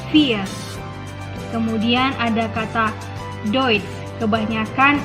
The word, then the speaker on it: vier: Kemudian ada kata vier, ie dibacanya i panjang, jadinya vier.